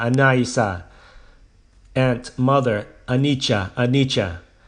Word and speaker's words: Anicca: To reinforce her resolve in meditation, I said, Dhamma, Anaisa, Anaisa, Aunt, Mother, Anicca, Anicca, pronouncing the word as they do in Burmese.